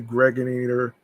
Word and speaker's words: Gregator: I'm your man aka the Gregator Rhymes with Narrator.